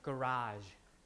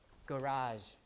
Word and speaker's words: garage: word in pronunciation in american pronunciation we would pronounce it like garage garage garage like that and then the stress is